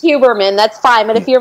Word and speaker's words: Huberman: Huberman? Yeah, you're not butchering it. That's good. You're okay. Fine. Okay. It's Huberman. That's fine. But if you're my dad, the H is silent, and it's Huberman, which Huberman.